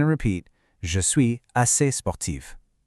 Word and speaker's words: sportive: Je suis assez sportive. Notice that strong v sound at the end of sportive.